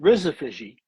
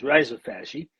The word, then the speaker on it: rhizophagy: made in Australia where they called it Rizophagi, but the right way to say it is risopy.